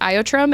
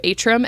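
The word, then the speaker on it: Aotrom: I'm including Riddick's brown swordtail here because in book 1 they pronounce it Iotrum, and now they've switched to Atrum, and I think it stays that way.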